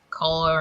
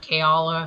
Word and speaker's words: Chaol: so i don't like color or chaola however you want to say his name i think it's kale i've heard a lot